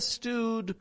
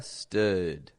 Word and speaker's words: stood: Not a stewed, but a stood. I understood. Keeping the lips totally neutral, totally flat, not stretching them out, just an sort of sound.